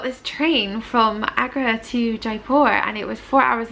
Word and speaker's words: Jaipur: to be a starfish is it Jaipur Jaipur look J / j / Jaipur J / we didn't know how to say it the whole time lower down J Jaipur deeper deeper so my plan was